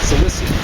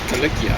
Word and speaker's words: Cilicia: And actually the Romans would have called it Cilicia or something like that. They didn't pronounce CIs and CEs like we do, like an S. They pronounced it like a hard K.